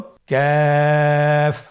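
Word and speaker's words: كاف: কাফের মাখরাজ হলো জিহ্বার গোড়া থেকে একটু আগে বাড়িয়ে তার বরাবর উপরে তালের সঙ্গে লাগিয়ে উচ্চারিত হয়। তাহলে আমরা কফ যেখান থেকে উচ্চারণ করেছি একটু আগে বাড়িয়ে সেখান থেকে আমরা তার বরাবর উপরের তালের সঙ্গে লাগিয়ে হরফটি উচ্চারণ করব।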